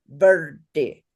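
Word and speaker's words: वृद्धि: Verde is the word. So everybody say verde. Verdi. Verdi. Verde. Verdi. Yes, now you can say a vocalic R.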